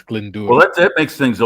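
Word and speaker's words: Glyndŵr: So in Welsh, a W is pronounced as a U, and a Y is pronounced as an So it's Glendower.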